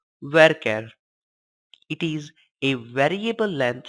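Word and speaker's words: varchar: characters in length you variable character denoted as var CH AR and pronounced as worker it is a variable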